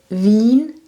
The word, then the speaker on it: Wien: IE is a long E in German.